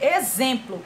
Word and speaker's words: exemplo: estão curtir por exemplo a palavra exemplo exemplo é x com som de z e muitas vezes as pessoas escrevem exemplo com z porque porque o sol